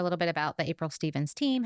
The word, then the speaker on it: Stephens: social media it's ail Stevens realtor pretty much everywhere or the April Stevens team caveat my last name is spelled s e p h NS so it spelled different than it sounds but yeah I would